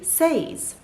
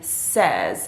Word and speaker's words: says: she says she's happy so remember it's not she says she's happy it's she says she's happy so we completely drop the sound in that word